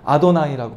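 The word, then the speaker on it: אדני: 그래서 이제 이것을 예후바 이렇게 있기도 하고 야훼라고 있기도 하고 근데 유대인들은 아도나이라고 발음해요. 무조건 아도나이 써져 있으면 이제 아도나이라고 발음합니다.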